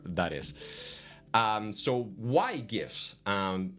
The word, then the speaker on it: GIF: uh it's by the as stated by the author it's pronounced like Jeff and that is a